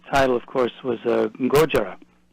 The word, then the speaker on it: Gojira: as Godzilla phonetically so if you say Godzilla three times real fast you pretty much have got the Japanese pronunciation gotcha gotcha the um